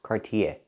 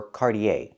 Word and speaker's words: Cartier: It has two pronunciations in America. You can say Cartier or Cardier. The last vowel is the long a sound like day and say. Not e, not cardier, but cardier. Cardier or Cartiier.